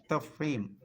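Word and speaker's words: تفخيم: റ, അത് റാവിൻ്റെ ഉച്ചാരണം 2 രൂപത്തിലാണ് വരിക. ഒന്ന് പറയാം തഫ്ഹീം എന്നാണ് അറബി പറയാം, തഫ്ഹീം, തഫ്ഹീം.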